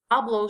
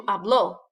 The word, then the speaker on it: habló: It changes it from habló, stress on the A, to habló, stress on the O.